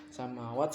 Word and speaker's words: samawat: Samawat panjang, mim sama wawunya panjang, soalnya samawat karena fathahnya berdiri.